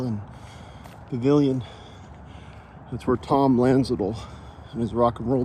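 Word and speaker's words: Landsiedel: Tom Lanzel was the leader of the band, co-lead singer and bass guitar player. I believe the D is silent. Although Lanzol is spelled L A N D S I E D E L.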